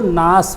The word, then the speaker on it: gnash: दूसरा है GNASH, यहाँ जी नहीं पढ़ी जाएगी, इस शब्द को नास पढ़ेंगे।